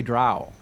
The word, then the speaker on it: drow: people of ferul honestly yeah rhymes with cow oh doesn't well the rosie rhymes with cow drow oh yeah oh yes